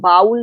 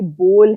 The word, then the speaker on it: bowl: Noun, उनका घर, are house हमारा घर, दीज आर माई ब्रदर्स मेरे भाई, इट्स वाटर बोल इज देयर, ये BOWL बाउल नहीं है, ये बोल है।